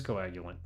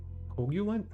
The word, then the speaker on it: coagulant: bra okay got it so it is coagulant I was confused I was like coogulant you're right though you're absolutely right